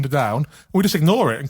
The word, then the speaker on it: Underdown: He corrects us saying it's actually Liam Underdown.